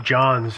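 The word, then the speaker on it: Jonz: that was owned by a guy named Don Jones who piloted this this point and it was the plane was one of their planes it's Jones it's in case somebody's gonna go out and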